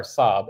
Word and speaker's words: Raab: Well, once again, I say it's like the car Saab, S-A-A-B.